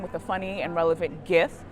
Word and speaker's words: GIF: the funny and relevant gifts and I use a hard G to fight me about it if you want but